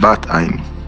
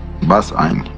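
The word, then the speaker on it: בת עין: That's why we call it Bat Ein, Bas Ein in the Ashkenaz pronunciation.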